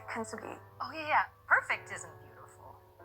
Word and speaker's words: kintsugi: I'm going to say it wrong. Kitsunge, kintsugi.